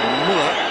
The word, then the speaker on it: Müller: didn't like it but as Miller says Müller as we prefer to pronounce him that looked like a